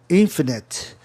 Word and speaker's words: infinite: Então, infinite funcionou aí a regra dos proparoxítonos, o I com antes de duas consoantes, INF, infinite, é onde vai ficar a sílaba tônica.